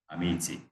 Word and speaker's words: amici: If we use CI, it is chi, amici.